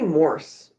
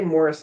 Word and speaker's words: Morse: It should be Morse. Why does everyone say Morris code? We We just add an I. Is that cuz it's not an English word and we have trouble? Well, horse is spelled the same way. We don't say horse.